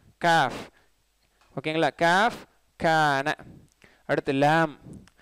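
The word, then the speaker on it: لام: அடுத்து லாம், லாம் ரொம்ப ஈஸி, இதுக்கு ப்ராக்டிஸே தேவையில்லை, எல்லா லாங்குவேஜில் இருக்கக்கூடிய லாம் தான், தமிழ்லேயும் வருது லா, இங்கிலீஷ்லேயும் இருக்குது லா. சரிங்களா? இது வந்து எல்ஏடபிள்யூமா லா அப்படின்லாம் சொல்லாமல் லாம் அப்படிலாம் இல்லை, லாம் அலிஃப் லாம் மீம் லாம் அந்த லாம் தான்.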